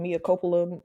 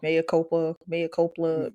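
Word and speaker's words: Mea Culpa: The what's it called mopa movie I keep saying it wrong May Copa m cop yeah there you go I'm sorry with Kelly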